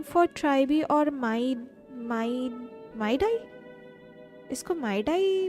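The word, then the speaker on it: Mydei: एनिसार going for ट्राइबी और माइडाई, इसको माइडाई pronounce करेंगे।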